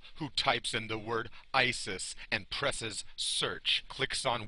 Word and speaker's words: Isis: answer where it reads the reconstructed pronunciation of the name is usat which is completely the wrong pronunciation she who sat upon